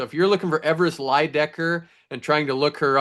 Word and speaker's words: Leydecker: They are saying Leydecker. With our men B representing USA, Everest Leydecker. I'm so used to it, it's hard even to say it wrong now, but they were saying Leydecker at the UWW event, so they have it wrong on the loudspeaker.